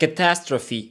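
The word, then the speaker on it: catastrophe: як АА наступне - Це catastropy повна катастрофа тому що ми з вами знаємо що букву і в кінці ми не читаємо але цьому слову пофіг Тому що тут вона читається rent має два значення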